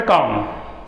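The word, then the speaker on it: calm: Next word है काम। काम यानी होता है शांत, इसमें एल जो लेटर है वो साइलेंट है।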